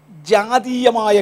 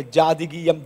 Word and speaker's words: ജാതീയം: മൂന്നാമത്തെ സഭയുടെ പ്രത്യേകത ജാതീയമായ കണ്ടീഷൻ. ഞാൻ പലപ്പോഴും പറഞ്ഞപ്പോഴേ ജാതികീയം ജാതികീയം എന്ന പദമാണ് ഉപയോഗിച്ചത്. ഇതിനകത്തുള്ള ഒരു സഹോദരൻ എന്നെ പോയിൻ്റ് ഔട്ട് ചെയ്ത് വെച്ച് പറഞ്ഞു, ജാതികീയം എന്ന് പറഞ്ഞാൽ ജാതകത്തോട് ബന്ധപ്പെട്ടതായെന്ന് വ്യാഖ്യാനിക്കാം. അതിനേക്കാൾ ബെറ്റർ ഉച്ചാരണം ജാതീയം എന്നതാ.